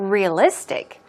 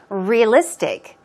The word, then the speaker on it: realistic: What about realistic? Realistic. Some people pronounce it realistic. You can also say realistic. The point is, the stress goes on the third syllable, on list.